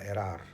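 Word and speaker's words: Érard: satu sosok bernama Sebastian Erar. Ya, tulisannya Sebastian tapi bacanya Sebastian. Ernya ditulisnya E R kemudian ED tapi D-nya tidak dibaca. Jadi bacanya Sebastian Erar.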